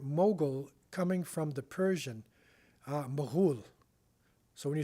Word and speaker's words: Mughal: So we say in English Mongol, but that's not the original pronunciation of the name. This is the Mughal.